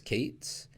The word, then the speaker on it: k8s: stick with couplet and k8s that expression I pronounced as Cates and the only thing